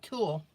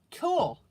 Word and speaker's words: tulle: Like tulle. Oh, tulle. Thank you, Maggie.